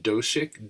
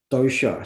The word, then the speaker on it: dosha: So, is it called Doshik? Doshik? Dosha, so Oh, Dosha, dosha. dosha. Your dosha type.